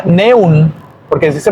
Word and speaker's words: neun: Entonces ya vieron que la E junto con la U cambia por OI, neun.